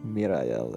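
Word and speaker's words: Myrael: will now focus on understanding who or what mirail is samira l at least a mirail that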